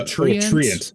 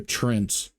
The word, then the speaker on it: Treant: Are they Treants? Treant. Yeah. I just thought they're Trents.